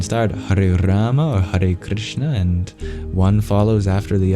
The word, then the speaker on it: Krishna: Hur then again Hur Krishna kishna is a difficult one to to pronounce we have to go through the sounds because the only sounds that actually correspond to English ones is the St start and the last the K is just a regular K but